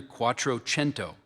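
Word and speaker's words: Quattrocento: Lorenzo Demadichi was one of the chief supporters of Italian art during the Quattroento.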